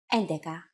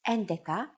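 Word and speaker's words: έντεκα: endica and de Ka Vega though the catria de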